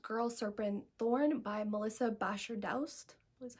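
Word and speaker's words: Bashardoust: So the next book I want to talk about is called Girl, Serpent, Thorn by Melissa Basher-Daust, is how you say her name.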